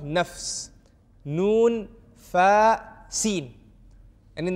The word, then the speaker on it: nafs: body, we are a mind, we are a nafs, we are a ruh, which is a soul, and we are a heart.